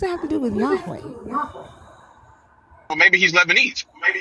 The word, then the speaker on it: Yahweh: Did you say Yahwe? Yeah, that's a proper pronunciation.